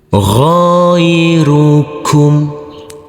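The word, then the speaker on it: غيركم: Ghairukum. Huruf ghain yang berfathah a bertemu dengan huruf ya sukun kita lembutkan karena ini adalah bacaan lain. Huruf mim sukun cara bacanya sama dengan huruf m.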